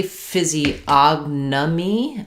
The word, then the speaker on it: physiognomy: If that's the correct spelling, I'm going to guess that we're stressing on the og syllable. And the beginning is a phys, og, me.